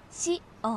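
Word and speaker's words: 紫苑: 刺繍の紫に、音楽の音と書いて、紫苑って読みます。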